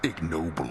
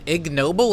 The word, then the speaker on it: ignoble: Bro, I just learned that the G in ignoble is pronounced? I thought that G was silent. I've been saying ignoble. I've been saying ignoble this entire time.